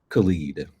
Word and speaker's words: Khalid: Is it pronounced Khalid or Khaled? Khalid.